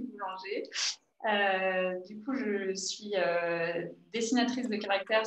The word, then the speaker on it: Boulanger: Alors, tu as prononcé mon nom très bien, Boulanger.